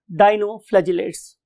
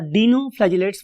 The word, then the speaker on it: dinoflagellate: That is called as डाइनोफ्लैजिलेट्स. उसको हम next column में पढ़ते हैं. डाइनो और डीनोफ्लैजिलेट्स, whatever you want to pronounce. I love to से डाइनोफ्लैजिलेट.